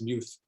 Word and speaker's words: Muth: It just so you know, it's pronounced Muth. Muth. When I first met him, I thought it was Muth too, and then someone had to correct me.